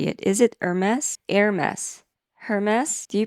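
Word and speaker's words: Hermès: Because in Japan we say Eru mesu. Eru mesu. Eru mesu. But the French pronunciation is closer to Air-mess with the H silent, I think.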